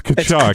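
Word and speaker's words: Tkachuk: Kachchuck Brothers was the actual pronunciation. It's Kachchuck.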